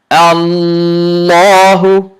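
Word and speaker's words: الله: Hamza fatha lam shadda al, lam fatha la, Allah, ha dhammahu, Allahu, Allahu, Allahu, Allahu. There are two lams here.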